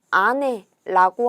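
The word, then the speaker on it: 姉: 언니나 누나는 요렇게 쓰고 아내라고 하게 됩니다.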